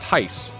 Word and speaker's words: Thais: thais entice is a it's pronounced tice but like as as an englishman it's like i would never guess that i would never ever